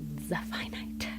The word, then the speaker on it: Zephynite: What I would say, and something that I'm beginning to reflect on, is that, nice, I pronounced it right, Zephynite. Ah, that's cool. Sounds like the infinite.